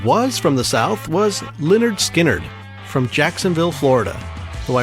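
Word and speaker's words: Lynyrd Skynyrd: But anyway, Leonard Skinnard, spelled with all Y's, is another strange name, and the story behind it is kind of funny to me.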